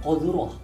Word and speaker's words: corduroy: Koduroah. Tulisannya?